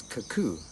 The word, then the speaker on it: Kakow: This one is Kakow, as it is pronounced here in Belize by one of the local Mayan languages.